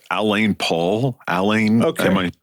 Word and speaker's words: Alain: name I think it's Alain Paul Alain am I pronouncing that right alen alen alen yeah a l a i n Paul yeah it's the French version of Allen except he's British so